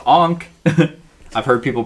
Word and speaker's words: ankh: a newbie and then i know this is pronounced ankh i've heard people pronounce